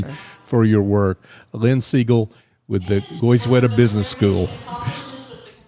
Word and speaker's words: Segall: It's Segall, sounds like the bird, but it's spelled Segall.